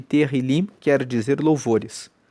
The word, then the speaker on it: Tehillim: Vão lembrando que o livro de Salmos, no hebraico, se chama Tehillim. Tehillim se escreve T-E-H-I-L-I-M e Tehillim quer dizer louvores.